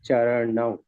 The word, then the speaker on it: चरणौ: जो हिंदी वर्षन में चरणौ लिखा है, एवरीवेयर यू प्रोनाउंस एज चरणौ, न है, ठीक है, न नहीं, चरणम प्रपद्ये, चरणम चरणौ चरणौ लिखा है, न नहीं है, न चरण।